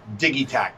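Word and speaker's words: Digitakt: He always says it's pronounced Digitac.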